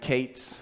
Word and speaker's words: K8s: I-18N, and Kates, which is pronounced Kubernetes, K8S, right?